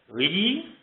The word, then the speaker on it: gli: The gl sound is closest to our word scallion, scallion, and I think of an Italian definite article, the word "the," which is gli if you were to spell it out, so that l and the ye is the combination of the gl.